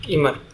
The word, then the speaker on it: Immer: तो इसके लिए एक सॉल्यूशन है कि एक लाइब्रेरी है इमर करके, ठीक है, इमर आइमर या जो भी बोलो, इमर ही हम उसको प्रोनाउंस करेंगे, IMMER है उसका, ठीक है।